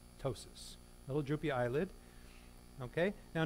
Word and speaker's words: ptosis: okay a droopy eyelid we call ptosis you don't pronounce the Poppy ptosis little droopy eyelid okay